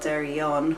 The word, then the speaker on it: Derryaun: There's a place very near us called Derryon, which is spelled Derryaun, and it actually means Derryaun, which Eon means wild, so it's a wild oak wood.